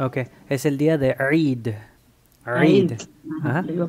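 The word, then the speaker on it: عيد: Ain, kasra, extensión de la I y la dal con sukun. Eid.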